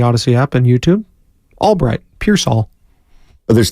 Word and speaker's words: Pearsall: Said I was speaking French because I was saying Pearsall, Ricky Pearsall. Yeah. Yeah. Generally with 2 L's at the end, you pronounce the all.